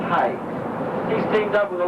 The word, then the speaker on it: Hey: by the name of high h y we pronouncing hey he's teamed up with